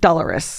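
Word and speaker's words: Dolours: the IRA and the troubles and especially about doar price which I now know how to say her name correctly because of that show how the Irish say it uh it's tough though dollarus yeah it's incredible great it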